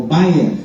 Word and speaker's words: Byrne: En el 2006 una señora llamada Rhonda Byrne, o Bayer se pronuncia, yo lo pronuncio chichombiano, Rhonda Byrne.